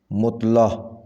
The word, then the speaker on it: مطلع: تلفظ ہوگا مقابل، مقابل۔ مطلع صحیح لفظ ہے مطلع، مطلع۔ معالجہ صحیح تلفظ ہے